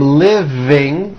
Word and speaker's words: living: Living. I am living in a house. Is that correct? Yes, the V is voiced. Living.